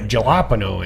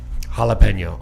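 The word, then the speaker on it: jalapeño: it where they put galapo in it and it's jalapeno I'll say it correctly they do have like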